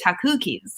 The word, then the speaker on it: Takuki: us on shark tank takuki you should pronounce it like that too like like it's kooky takuki's cookies then you could have takuki